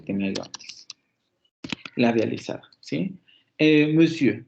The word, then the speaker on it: monsieur: Monsieur, por eso se escucha de esa manera, monsieur, monsieur, monsieur, porque se redondean los labios. Si no, se escucha algo así como monsieur, monsieur, monsieur, monsieur, y no se pronuncia así.